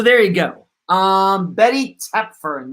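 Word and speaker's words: Toepfer: you go um Betty tepfern yes that is how you pronounce her last name t-o-e-p f e r not Topher or tougher all right let's move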